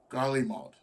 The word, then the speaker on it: Garlemald: find ourselves facing the combined might of all Garlemald. Yeah, that's how you pronounce that.